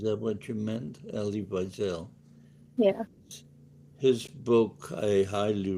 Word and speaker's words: Wiesel: Eli Wiesel Weisel? or Wiesel, thank you. Viktor Frankl are the big ones. Yeah, yeah. before him. Um, oh, Elie Wiesel. Mhm. Is that what you meant? Elie Wiesel.